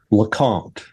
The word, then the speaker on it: LeCompte: far into this um correct me on the pronunciation of your last name. Lacant.